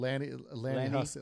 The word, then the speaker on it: Lanny Hussey: Lanny Hussey. Lanny Lanny Hussey. Yeah, you Hussey. don't want to call him a Hussey, but it's Lanny Hussey.